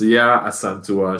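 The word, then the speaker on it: Yaa Asantewaa: So it's this Ya Asantua.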